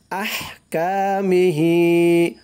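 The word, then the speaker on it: أحكامه: সাকিন জামিআ ওয়াকাবিলতু জামিআ আহকামিহি হার উচ্চারণটা চিকুন করতে হবে আহকামিহি কা একালিপ টান মিহি হি একালিপ টান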